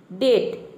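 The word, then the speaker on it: debt: याद हो जाएगा देखिए डेट यहां हम क्या प्रोनाउंस कर रहे डेट यानी कि ब का साउंड नहीं आ रहा ब को हम क्या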